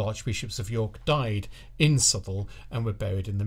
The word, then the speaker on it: Southwell: at a town called sule also pronounced as it is spelled southwell British people do like